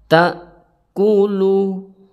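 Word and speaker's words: تَأْكُلُ: Jadi cara membaca pada huruf hamzah di sini tidak boleh bernafas karena nanti jika membaca secara bernafas itu bisa-bisa hamzahnya terganti kepada ain. Jadi yang benar cara bacanya ta'kulu, ta'kulu.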